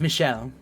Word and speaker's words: Michel: Michelle is the French version of Michael, so technically Okay, speaking, rather- it is pronounced Michelle.